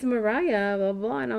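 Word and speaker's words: Mariya: She's like, "Well, it's Mariah blah blah blah."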